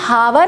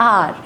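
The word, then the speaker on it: hour: Year, इसको हम हावर नहीं पढ़ते, हवर नहीं पढ़ते, एच जो है वो साइलेंट रहता है और इसको प्रोनाउंस किया जाता है आर।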